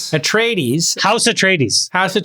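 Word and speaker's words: Atreides: How do you pronounce it? At trades. At trades.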